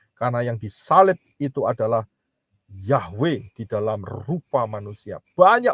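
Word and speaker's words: Yahweh: wau He nah kalau Yod he W he Bacanya apa enggak lain adalah yahwe begitu silakan punyanya Hana Eva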